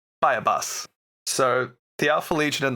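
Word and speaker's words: Buyabos: Um I'm I'm umming because it's definitely not spelled like how I'm going to pronounce it. But my brain calls it is called Buyabus. Buyabus?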